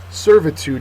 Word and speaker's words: servitude: pat on the back servitude is next uh and it's a noun first syllable is accented it is slavery or